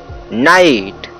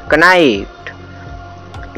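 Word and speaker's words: knight: For example के एन आई जी एच टी नाइट, न कि इसे पढ़ेंगे कनाइट। इसमें के इसलिए साइलेंट है क्योंकि के बाद यन आया है और यन के बाद वावेल आई आया है, इसलिए के को साइलेंट रखा जाता है और इसे नाइट पढ़ा जाता है।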